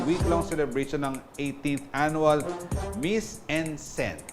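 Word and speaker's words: Mise en scène: celebration ng 18th Annual Miss en Scène. Yun daw ang tamang pronunciation sa French. So, Miss en Scène. Hindi naman ako French, kaya pwede rin siguro Miss en Scène, na inorganisa ng AB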